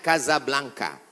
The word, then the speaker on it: Casablanca: Ibu kotanya tulisannya Casablanca. Cara bacanya Casablanca.